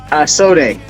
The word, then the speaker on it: SODEH: SODEH. Okay. Yeah. I wasn't sure if I was going to pronounce it correctly.